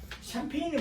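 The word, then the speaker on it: Champagne: 그러면 샴페인이 뭐냐면 프랑스의 와인이 많이 나오는 상파뉴 지방에서 나오는 와인이 샴페인인데, 프랑스 발음으로는 상파뉴고 영어식 발음이 샴페인이기 때문에 그렇게 아시면 되는 겁니다.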